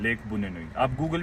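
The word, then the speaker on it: Bunyonyi: हाउ डू you pronounce it? बुन्नोनी।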